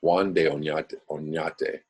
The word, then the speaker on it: Juan de Oñate: accompanied the conquistador Juan de Oñate, let me pronounce that correctly, Juan de Oñate, when his expedition forded the river.